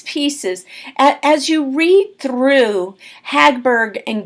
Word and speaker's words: Hagberg: remember this Janet Harburg Hagberg and Robert Goulet Bob gulick and Janet Hogg Berg let me say her name again I keep messing it up it's Hagberg Hagbard Janet H a G